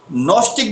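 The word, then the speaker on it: gnostic: का ये है ना नस्टिक बींग नस्टिक बींग में ये जी से स्टार्ट है जी एन ओ एस टी आई सी इसे जी साइलेंट रहेगा इसमें बोला तो नस्टिक जाएगा नस्टिक बीइंग मैं थोड़ा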